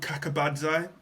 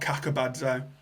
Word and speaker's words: Kakabadze: So there's a Georgian right back called Kakabadze. I know I've pronounced that wrong, but it's something like Kakabadze.